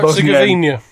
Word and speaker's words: Herzegovina: That year, Bosnia has, I can't even pronounce the H. Yeah, Herzegovina.